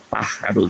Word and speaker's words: pájaros: Quiero vivir la vida aventurera, palabra grave, ¿verdad?, de los errantes pájaros marinos. 2 graves, errantes marinos, y una esdrújula, pájaros, con acento en la primera sílaba, como debe ser.